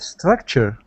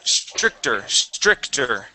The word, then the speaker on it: stricter: You said structure or structure? Stricter. It's not structure.